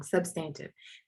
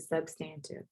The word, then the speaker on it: substantive: go substantive substantive substantive so i was wrong substantive that's how you pronounce it substantive all right so let's